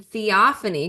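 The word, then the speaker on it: Theophanie: So we are discussing chapters 11 through 20, starting out in chapter 11, Theophany, because we all figured out how to pronounce her name in the last week.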